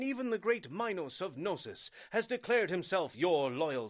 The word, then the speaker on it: Knossos: So that's how you pronounce that. Knossos.